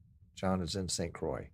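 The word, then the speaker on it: St. Croix: right John is in St Croy isn't that how it's pronounced St Croy like c r o y Croy like Roy did you really wear a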